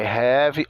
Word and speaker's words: have: O H tem o som de R, o A de E, o V de V e o E de I.